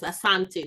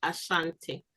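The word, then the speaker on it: Asante: The Asanti um the proper pronunciation is Asanti, not Ashanti.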